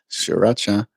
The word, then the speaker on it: Sriracha: know how to pronounce sriracha. She thinks you pronounce both R's. Sriracha. Shori Racha. And in South Africa, we roll our R's. So it would be Sri Racha.